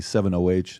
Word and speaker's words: 7-OH: If I'm saying it correctly, 708, am I saying it correctly? Yep.